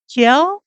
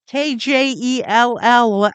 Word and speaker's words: Kjell: Yeah, I think it's probably pronounced like Kiel. Kjell?